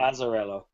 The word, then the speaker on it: Azzarello: How do you pronounce his name? Azzarello.